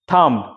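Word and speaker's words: thumb: কর টি এইচ ইউ এমবি থাম আমি যদি উচ্চারণ করতাম প্রথমে থাম থাম মানে হাতের বড়ুয়া আঙ্গুল থাম নট থাম থাম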